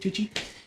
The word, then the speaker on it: Tucci: Tucci, is that how you say it, Tucci?